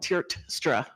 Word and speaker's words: Tiertstra: It's actually just how it's spelled, Tiertstra. Okay. Sorry, I have my back. Hi, my name is Angela Tiertstra, and I am a social worker at Colinas del Norte Elementary.